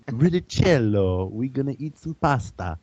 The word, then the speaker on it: Riccitiello: John Riccitiello. Good Good, God, spelling bee champion, right? good Italian name. Riccitiello.